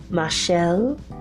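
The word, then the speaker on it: Machaelle: I say Ma instead of Michelle because her name is spelled M-A-C-H-A-E-L-L-E, Michelle, small, S-M-A-L-L, dash, right, W-R-I-G-H-T.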